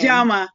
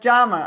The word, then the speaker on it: Njama: And today, I have a guest, Miss Najama. Did I pronounce that right? Close. Say, tell everybody how to pronounce your last name. Jama, like the magazine Jama. Just Jama.